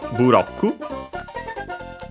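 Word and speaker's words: ブロック: When you have become big, then we have buroku. You can guess it quite easy from block from English. Quite an important word for Mario games. Accented on the ro as expected, just like in English, block.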